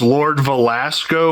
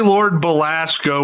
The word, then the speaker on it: Belasco: When I recorded the audio for this video, I thought the main villain's name was Lord Velasco with a V, but it's actually Lord Belasco with a B.